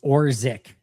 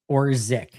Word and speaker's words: Orzech: Last name is pronounced Orzik. Orzik.